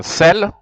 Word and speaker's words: celles: It is written with S, but you just pronounce it as if you don't.